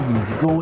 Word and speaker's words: Windigo: Selon la langue, ça se dit aussi Wendigo, ça se dit Witiko, ça se dit Witikau, bref, il y a plusieurs façons de le prononcer, puis je vais tout